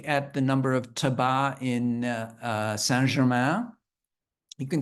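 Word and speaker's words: tabac: a tobacco shop there you don't pronounce the C at the end um you see them throughout uh Paris they're very common uh but if you look at the the number of tabba in uh San you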